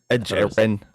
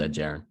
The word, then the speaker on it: Edgerrin: Edgerrin. I thought it was Ed Jaron.